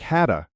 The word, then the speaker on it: had to: Many native speakers say had to quickly, and it sounds like hadda or hafta. I hadda work late is how it sounds in fast, casual speech, though in writing we